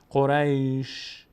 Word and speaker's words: قریش: کنیم وقتی قبلشم ساکنه قریش قریش قریش قریش دقت کنید قریش قریش شین یک صدایی ازش میاد اما حرکت نداره الان من به شین